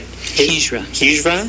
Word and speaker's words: Hijra: There's different terms for transgender and from different cultures, such as two-spirit, and I'm not going to pronounce this right. Hijra, thank you.